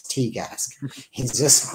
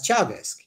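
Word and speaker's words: Teagasc: He still calls Teagask. He's unable to get his head around it, and he's not a stupid man, but it's just it's not in his brain to pronounce those letters as Chagask, whereas Irish people who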